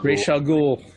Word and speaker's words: Ra's al Ghul: Ra's al Ghul.